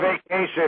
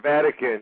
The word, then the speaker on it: Vatican: look where he lives no it's not vacation it's it's not vacation it's Vatican you pronounced it wrong I'm a little dyslexic